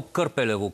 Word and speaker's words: Кърпелево: от благоевград м в село кърпелево както е ударението а пенсионерите които нямат